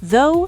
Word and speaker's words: though: For silent gh, though, through thought, daughter, night, high.